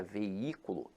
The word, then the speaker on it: veículo: Agora, a palavra veículo, apesar de ter hiato, veja que a sílaba tônica se encontra na antepenúltima sílaba.